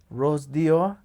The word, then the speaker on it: Rose d'Or: What in the Rose d'Or? Rose, how do you say it? Rose d'Or.